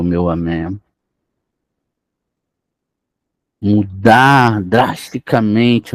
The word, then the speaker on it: Amém: então vamos ver eh não pronuncie Amom mas amé sustento de todos os